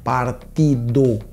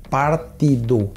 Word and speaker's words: partido: Partido, igual que quando você traduz ao português, seria partida, só que olha a pronúncia, partido, partido, traduzido partida.